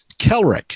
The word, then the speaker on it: Kelrec: But anyway, tell us how you became Commander Kelrec. Is that how I pronounce it? That's right.